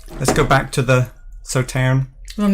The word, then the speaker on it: Sauternes: You don't pronounce the S at the end of Sauternes. Is it Sauternes?